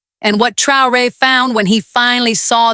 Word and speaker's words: Traoré: Ibrahim Traoré, pronounced Tray-Oh-Ray, is 36 years old.